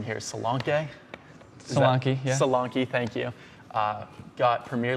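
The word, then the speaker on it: Solanke: out on top I'm going to say the name wrong here Salan Sal salanki thank you uh got Premier League team of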